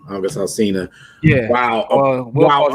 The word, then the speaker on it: August Alsina: Alsina, and that how you say his name, August Alsina.